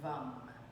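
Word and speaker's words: वं: So the seed syllable of the sacral chakra is VAM, V-A-M.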